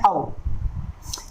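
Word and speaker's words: of: अगला है औ, ये ऑफ नहीं बोलेंगे इसको, इसका सही प्रोनाउंसिएशन होता है औ।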